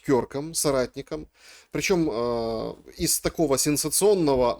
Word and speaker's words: Кёрк: Попрощались с Кирком, или, как правильно говорить, Кёрком, соратником.